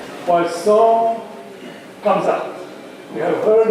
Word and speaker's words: Poisson: And the name Poisson comes up.